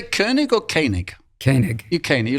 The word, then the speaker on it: Koenig: How do you pronounce it? Do you say Koenig or Koenig? Koenig.